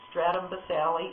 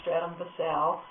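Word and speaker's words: stratum basale: little bit more detail we'll start first with a stratum boselli and no that is not the redneck pronunciation it really is stratum Visalli it's not stratum to sell but basically this is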